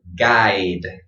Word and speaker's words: guide: And this word guide, I. So I, kind of strange that this is pronounced I, right? Well, that's just English. I'm sorry. It's complicated with spelling.